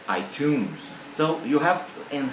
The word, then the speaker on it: iTunes: the classic example was iTunes iTunes right the music audio Provider from Apple the store iTunes Store the the the student said itun itun it's not tons it's iTunes so you have and